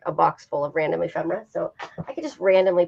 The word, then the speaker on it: ephemera: you explain to us what ephemerate is am I saying it right you are ephemera yes okay show you